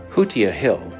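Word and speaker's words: Hutia Hill: would now appear that we are on our way up to haa proper pronunciation might not be that but I was thinking it was kashia hasia Hill or haa Hill something something like that anyway we're we're going up a hill Hua Hill as it's correctly pronounced is a hill that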